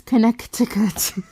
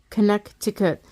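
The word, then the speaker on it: Connecticut: It just says that that C is not pronounced. That second C is not pronounced. Like if it's not pronounced, why is it there? Connect to cut.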